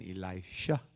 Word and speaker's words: Elisha: todos digan y la es Elías toces digan elisha Ese es Eliseo estaba Eliseo enfermo de la